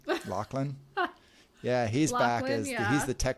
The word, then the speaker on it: Lachlan: Is that how you pronounce his name? Lachlan? Yeah, he's Lachlan, back as he's the tech CEO who plummets to his death in the elevator, in the terminal descent.